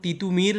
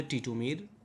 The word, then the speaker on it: তিতুমীর: এই জন্য তিতুমির না বলে টিটুমির, বড্ড অসুবিধা না বলে অসুবিধা, করিতেছে করিতেছে না বলে করিতেছে, এভাবে তারা কথা বলতে শুরু করেছিল।